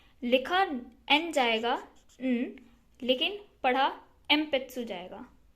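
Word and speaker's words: えんぴつ: न होती है, एंड जब भी ये पी या फिर बी के साथ होता है तो इसकी प्रोनाउंसिएशन बन जाती है लाइक एग्जाम्पल एम्पेत्सु बोले तो पेंसिल। लिखा ये जाएगा लेकिन पी के साथ ये एन है तो इसको पढ़ा एम्पेत्सु जाएगा।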